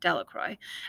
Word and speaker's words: Delacroix: Bobby and Harry Jones and Dickie Delacroix, the villagers pronounced his name Delacroix, eventually made a great